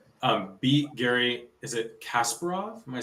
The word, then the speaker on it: Kasparov: beat we're cruising um beat Gary is it Kasparov am I saying it right beat Gary Kasparov yeah so concept here beat Gary Kasparov basically